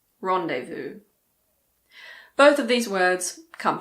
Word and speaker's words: rendezvous: Again, there aren't that many words in English with a silent Z. The most common ones are probably laissez-faire and rendezvous. Laissez-faire, rendezvous.